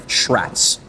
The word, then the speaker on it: Shratz: It's Shratz. I mean, I used to say my name before a video, but I don't anymore, so I can see why you would get it. But like shh, like you're quieting somebody.